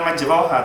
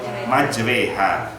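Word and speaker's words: مجراها: Tulisannya majroha wa mursaha. Tapi kamu bacanya bukan majroha, tapi majreha. Padahal vokal bahasa Arab tidak ada bunyi e.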